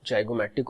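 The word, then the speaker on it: zygomatic: O को आप गौर करो कि O में जाइगोमैटिक और वोमर को डाला गया है. क्यों? क्योंकि ये दो बोन को जब आप प्रोनाउंस करोगे तो जो स्ट्रेस होता है that is ऑन O, जाइगोमैटिक, vomer.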